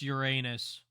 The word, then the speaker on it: Uranus: the planet yet you're saying it wrong it's Uranus that's I'm not saying it wrong there's one